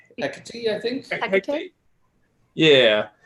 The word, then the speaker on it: Hecate: My divine parent is, how do you say, Hecate? Hecate, I think.